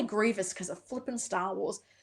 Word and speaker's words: Grievous: Yes, it's pronounced Grievous. I freaking hate that character. I always have to stop and go, "Grieve Grievous? Grievance?"